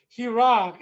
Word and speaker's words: Heerak: it's like shane but he rock i mean two syllables is always more difficult it's like james bond